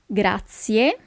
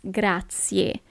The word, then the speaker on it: grazie: half okay thank you grazia attention here is not grazi but it's grazie you really have to pronounce the last letter the letter e and letter E in